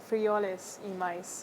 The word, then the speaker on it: Frijoles y maíz: How do you pronounce this, by the way? Frijoles y maíz.